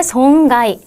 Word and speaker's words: 損害: ' 송가이 '.